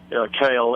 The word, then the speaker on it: kil: originally settled by the Dutch and um although it's spelled differently um the literal phonetic translation for a kill kale is a is a creek a small Creek